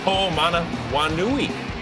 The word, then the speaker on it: Ho'omanawanui: Inactive, so it's Michael Ho'omanawanui. Okay. We're just going to call him Mike the rest of the highlight. There's Mike. Run, Mike. Yeah, that's seven That's 7 syllables if you're scoring at home, by the way.